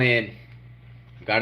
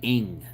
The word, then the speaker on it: Ng: this is 29-year-old Nancy ing Nancy last name spelled NG the way the media is pronouncing it ing iing G she's from